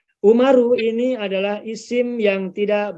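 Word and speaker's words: عمر: bahkan sebelumnya ada nama umaru ada nama Amru ini penulisannya adalah Ain mim dan ro ada satu lagi Aim mimro dan wawu nah ini penulisannya berbeda pengucapan juga berbeda kalau Umar Bin Khattab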